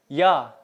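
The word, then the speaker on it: yağ: Nah, kalau huruf C yang ada buntut di bawahnya baru dibaca C, sama seperti di bahasa Indonesia.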